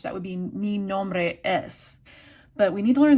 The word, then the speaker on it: y: It's the letter Y, pronounced E.